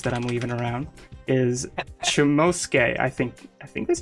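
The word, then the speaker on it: Chomusuke: these little spoilers that I'm leaving around, is Chomosuke. I think that's how you pronounce it? Chomosuke? Yeah, Chomosuke.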